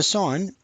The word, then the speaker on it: sine: So sine, S-I-N-E, shortened to sin, but pronounced sine, is opposite over hypotenuse.